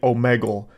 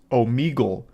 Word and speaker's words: Omegle: back in high school I was calling it omegal and only today am I realizing that it's actually pronounced Omegle so I learned the proper pronunciation just in